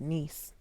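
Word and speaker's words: Nice: Uh it's pronounced niece.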